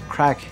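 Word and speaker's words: craic: As you work in RiRa, you're going to hear the word crack be mentioned all the time. And it's spelled C-R-A-I-C, and it comes from, it's a Gaelic phrase, and it means great fun.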